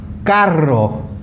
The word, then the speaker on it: carro: Okay, to pronounce a double R, you really have to roll your tongue. Okay, so like r, carro, perro, cerro, zorro, and tarro.